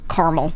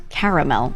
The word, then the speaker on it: caramel: A lot of you guys say carmel. Oof. It's caramel. That's caramel, dude. I'm picking with three syllables, caramel.